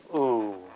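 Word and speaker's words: དབུ: Okay, instance number 2, when da comes before ba, and it's not plain ba, but the ba has a yata, a subscribed ya that is, or a vowel sign. Then what happens is the da is silent because it's prefix. The da silences the ba. So all that's left is the shabkyu in this case. So da o, ba, shabkyu, u, meaning head.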